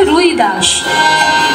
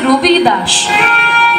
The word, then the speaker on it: রবিদাস: ভক্তি করে যিনি ভজনটা লিখেছেন তার নাম হচ্ছে রুইদাস আসলে রুদাস তার নাম নয় বাঙালিরা বলে রুইদাস বাঙালিরা বলে রুইদাস রুদাস তার নাম নয় তার নাম হচ্ছে রবিদাস রবিদাস দেখবে হিন্দিতে বটা একটু উচ্চারণ হয় রবিদাস